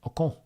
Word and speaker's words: Ocon: Ocon.